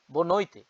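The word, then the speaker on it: boa noite: good evening আমরা বলি না শুভ রাত্রি বাংলায় বো নৈতে বউ নইতে বো নইতে এটা কিন্তু ইউরোপ পর্তুগিজ স্টাইলে আমি বললাম উচ্চারণ কেউ যদি কেউ কাউকে জিজ্ঞেস করে কেমন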